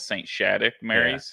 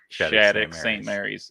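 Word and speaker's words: Shattuck-St. Mary's: instantly corrected me because he called it saint shattuck mary's yeah and he said no it's shattuck st mary's and i used to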